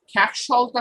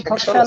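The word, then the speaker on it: খ্যাকশিয়াল: Not literally, আমরা আজকে থেকে উচ্চারণ করবো হচ্ছে শল। বলেন খ্যাকশলটা কোথায়? আমার সাথে বলেন। আচ্ছা, বনে কি খ্যাকশল আছে? বনে কি খ্যাকশল আছে? বনে কি খোকশাল আছে? কে খোকশাল বলছে? কেমন তো লাগে? খ্যাকশল।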